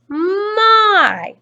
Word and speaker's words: my: it makes the sound it's this letter y that's going to be our heart part which because it's making the sound i so i so because